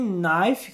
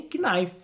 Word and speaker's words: knife: A letra K em know, que significa saber, know, ou então em knife, que significa faca, também não é pronunciada. Não é know e nem knife. Simplesmente no knife.